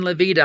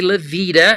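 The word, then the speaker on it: La Veta: L A ta a we say levita as if it's an i it probably should be pronounced laa Lavita you know but it's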